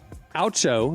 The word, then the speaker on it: Oucho: Oucho, like O-U-C-H-O, Sparks. Oucho, like a spark made you go ouch.